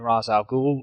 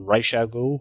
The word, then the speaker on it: Ra's al Ghul: Todd, and then confronting Ra's al Ghul, or Ra's al Ghul, however you want to pronounce it. I know there's different versions of that for different people, who felt responsible as